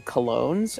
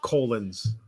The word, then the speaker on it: colons: And Val, it's pronounced colons, by the way.